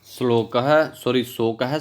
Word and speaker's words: शोकः: शोकः श्लोकत्वम् आगतः, ये प्रश्न शुद्ध उच्चारण हुआ।